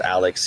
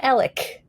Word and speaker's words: Alex: And it is definitely not pronounced Alex here in Alexandria. It's pronounced Alec.